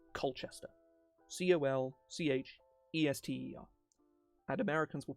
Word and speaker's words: Colchester: It's pronounced exactly as it's spelled, Colchester.